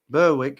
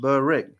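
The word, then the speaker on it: Berwick: Burwick is pronounced Burick.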